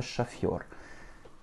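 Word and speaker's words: шофёр: Comme c'est un mot qui vient du français, l'accentuation tombe sur la dernière syllabe. Lorsque tu as un yo dans un mot, comme je te l'ai dit dans une vidéo précédente, l'accent tonique tombe sur le yo systématiquement. Donc le O va se prononcer comme un petit A.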